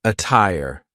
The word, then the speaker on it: attire: a bust and jail the true T sound can also be used when there is a Double T like in the word attire but be careful because a lot of Double T Words will sound like a fast D but a tire is an example of a Double T that sounds like a true te what's the attire another